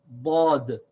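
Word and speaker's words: ضاد: The way that we can pronounce this letter is that we can rest our tongue either on the right cheek or on the left cheek, ba, bod, or ba.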